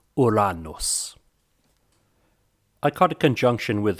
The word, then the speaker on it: Uranus: I like to stick with the classical Latin version and pronounce it Uranus. Some people like to call it Uranus, or popularly among many people is Uranus. But if we're to stick with the classical Latin, then we should say Uranus.